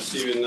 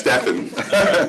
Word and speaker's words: Steven: Steven, 46 Charles Street. Sorry, I got your name wrong. I thought it was Steffen.